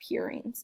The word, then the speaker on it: purines: adenine and guanine are purines. And the way you remember it is that purines sounds like the word pure, like angels.